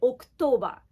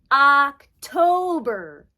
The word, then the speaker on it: October: is October October October it's an O but the English o is not the same as the romaggio so we don't say October we say October October okay please look October October October the last part Burr is a strong R sound okay the next month